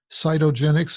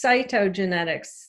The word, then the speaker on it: cytogenetics: degree in something called Saito genex am i pronouncing that correctly it's cytogenetics cyp Oh which I